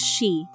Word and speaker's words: shi: In Japanese, the number is shi, which also sounds like the word for death,